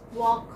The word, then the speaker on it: walk: Walk. Walk, okay, walk. What is silent here? L is silent.